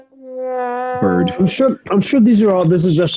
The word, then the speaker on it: Baird: Richard Byrd, how do you pronounce Baird? Is it Byrd or Bard? Byrd.